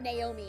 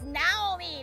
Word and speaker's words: Naomi: and my husband keep kept calling her Naomi and I'm like it's Naomi. They're even saying it. It's Naomi. Say it right. But yeah, Carter and Naomi are are interesting interesting little names here.